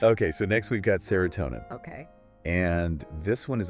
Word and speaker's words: serotonin: And the pronunciation on that one is serotonin. Serotonin. All right. Yeah, tonin. Is that it?